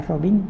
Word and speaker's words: Robin: Martha Robin, se dice Robin, se escribe Robin, es una mística francesa.